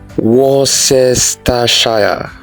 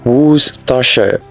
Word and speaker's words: Worcestershire: Do you say Worcestershire? It is wrong. The pronunciation is Worcestershire.